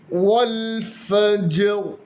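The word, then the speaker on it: والفجر: ബിസ്മില്ലാഹി റഹ്മാനി റഹീം വൽ ഫജർ അവിടെ റാ എന്ന അക്ഷരത്തിന് കസറാണ് നിർത്തുമ്പോൾ സുക്കൂൻ കൊടുത്ത് ആ അക്ഷരത്തെ റായി നിർത്തുന്നതാണ് കൽക്കലഹ് ഉണ്ടാകാൻ പാടില്ല അതായത് വൽ ഫജർ എന്നാകാൻ പാടില്ല വൽ ഫജ്ർ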